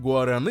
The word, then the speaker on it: guaraná: São servidas em tigelas grandes com granola, bananas e outras frutas, muitas vezes com adição de xarope de guaraná (sim, sim, é assim mesmo que se pronuncia) para um efeito ainda mais marcante.